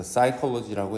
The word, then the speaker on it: psychology: it은 어떤 거냐면 앞에 얘기했던 이제 psychology, 여기서는 P가 묵음으로 소리가 나지 않습니다. 그래서 psychology라고 했죠. 심리학은 과학의 분야인데, 그리고 그 과학이라는 것은 어떠한 것이냐면 전념되어지는 겁니다.